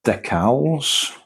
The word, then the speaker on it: decals: We've got stickers, what, decals. I used to call them decals because I didn't know that the C was a hard C.